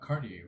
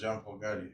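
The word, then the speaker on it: Jean-Paul Gaultier: Oh, you're talking about Cartier, right? Is that how they say it? Maybe. No, he says Jean-Paul Gaudier. Oh, he does. Oh, okay. Gautier or whatever.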